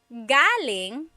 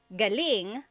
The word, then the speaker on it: galing: So, galing the emphasis is on the first syllable that means coming from. David Jr. on Instagram just asked the same question, too. Galing means good or great. So if the emphasis is on the second syllable, galing that means good or great or excellent.